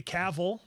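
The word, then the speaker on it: Cavill: out the uh Henry caval I got his name right that time rhymes with travel uh when he did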